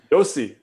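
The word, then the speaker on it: Josi: say the name uh i would i would guess roman jesse is that am i reading it right yossi yossi yeah i was hoping you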